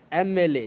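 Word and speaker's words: MLA: अब देखिए एन, एमएलए, एमएलए, जबकि आपको पता है कि एमएलए की जो स्टार्टिंग है वो एम से शुरू हो रही है, लेकिन यहाँ स्पेलिंग से मतलब नहीं है, यहाँ पर साउंड से मतलब है। यहाँ पर साउंड आपका ए है, ए, एमएलए।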